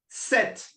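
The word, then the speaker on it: sept: Next, we've got set set.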